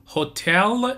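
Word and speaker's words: hotel: شف معنی سرآشپز بعدی هتل منجر هتل منجر یعنی مدیر هتل هتل منجر استرس رو بخش دوم کلمه هتل هست هست هست هتل هتل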